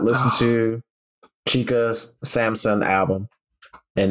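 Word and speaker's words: Chika: that album if you have not listened to chica's Samson album and it's spelled chica c h i Ka album It's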